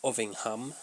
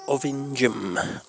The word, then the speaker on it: Ovingham: See, I would pronounce it Ovingham. Ovingham Ovingham allegedly suspectedly They pronounce it around here Ovingham. Ovingham.